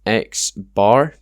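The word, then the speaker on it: x̄: just represents each individual value X this is pronounced xar it has a dash on the top of it um so xar just means the mean and then n is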